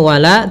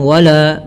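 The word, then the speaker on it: ولا: mimnya harus jelas kemudian W di sini wala tipis jangan wala wala enggak tapi dia wala la tipis w w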